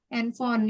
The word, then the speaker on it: handphone: Kalian lihat ya, handphone. Ini kan ada phone, ada PH. Jadi kalau ada alfabet kayak gini PH, ini dibacanya F.